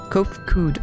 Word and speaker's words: Kood: As for nomenclature, to address any individual, I believe it would be pronounced Kood? Yes, Kood of the Ea.